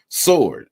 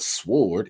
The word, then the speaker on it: sword: Sword. I know it's a W in it, but that W is silent. It it's not sword, it's sword.